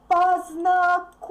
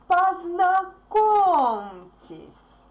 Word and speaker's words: Познакомьтесь: Even if you can see a soft sign there, it's pronounced hard anyway. Познакомьтесь. И, since E is unstressed here, it's pronounced like E. Познакомьтесь.